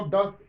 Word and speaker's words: doth: How doth DOTH? It is not does.